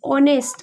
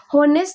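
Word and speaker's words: honest: अब यहां से साउंड देखिए ऑनेस्ट। ऑनेस्ट तो मतलब हम इसको पढ़ रहे हैं ऑनेस्ट। लेकिन होनेस्ट नहीं पढ़ रहे हैं।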